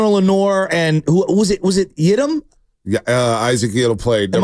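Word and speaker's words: Yiadom: receiver, seeing Diamond Lenore and who was it Yidam? Yeah, Isaac Yidam played. Am I pronouncing it properly? Yep. Okay. He was on that other side. Yadam.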